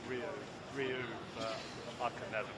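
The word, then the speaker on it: Ryo: It's sort of more pronounced Rio.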